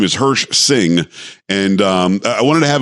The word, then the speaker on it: Hirsh Singh: But this guy, Hirsh Singh. Hirsh, am I saying it right? It's yeah, you almost got it. Hirsh Singh is just what I go by.